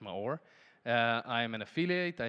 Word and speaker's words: Maor: It's Maor. It's pronounced Maor.